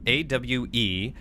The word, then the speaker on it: AWE: While penning any notifications of death related to the Willow AWE, please adhere to the following guidelines. AWE will, from here on out, be pronounced awe.